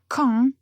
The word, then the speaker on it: Caen: Beaucoup de fois, je remarque que certains étudiants ont du mal à faire une différence entre les sons qu'il faut prononcer de façon nasale ou pas. Et parfois, c'est vraiment crucial, comme dans notre phrase. Caen, c'est une ville qui